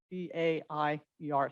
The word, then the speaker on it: Baier: So it's my honor today to, in place of Chris, to recognize Baier, who is our guest speaker.